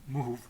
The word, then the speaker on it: Mouhoub: Alors moi, je vais le prononcer à la kabyle, pas à l'arabe. C'est pas le Mouhoub, c'est le Mouhoub.